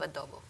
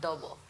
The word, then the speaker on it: adobo: They really love adobo. How do you pronounce it again? Adobo. Adobo. Yeah. Yes. Oh, it's like adobe, but with an O at the end.